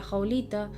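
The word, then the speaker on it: howlita: el ojo de tigre, la jaolita. Eh, ja se escribe H o w l i t a, que me lo preguntó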